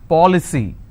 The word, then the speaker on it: policy: C Y for example policy how many syllables three for Lee c now here the rule says I need to stress on the third from right which means I will stress on Paw I just bought an